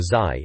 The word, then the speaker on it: ZY: guess we'll see what ZY, or Zai as it's pronounced, thinks.